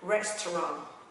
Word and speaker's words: restaurant: R r nó sẽ là restaurant, restaurant, terront, terront, terront.